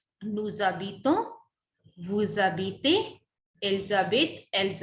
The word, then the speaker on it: habitent: J'habite, tu habites, il habite, elle habite, nous habitons, vous habitez, elles habitent, elles habitent. ENT is silent.